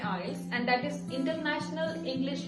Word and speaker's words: IELTS: तो उन बच्चों को आई वांट टू से कि बेटा आइल्स और आइलेट्स इट इज वन एंड the same thing, बस आइलेट्स के टी को साइलेंट कर दिया गया है एंड इट is pronounced as आइल्स।